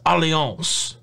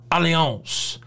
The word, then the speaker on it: Allianz: in subsequent days that it's a french company and that may be pronounced allianz aleons either way french u-s-a-l-l-i-a-n-z what i do